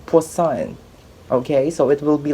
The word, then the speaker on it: Poisson: or to read because it looks like the spelling could be pronounced as poison but it's actually poisson okay so it will